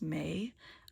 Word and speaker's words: me: Um which emphasized order, which is called the me. Sometimes pronounced may. I'm going to say me.